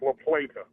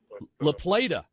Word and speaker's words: La Plata: Pronounced La Plata. La Plata. You got it, yeah.